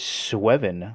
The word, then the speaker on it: Sweven: I believe the pronunciation is Sweven.